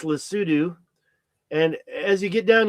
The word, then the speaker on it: Lesotho: I know you might pronounce it Lesotho, but it's Lesotho, And as you get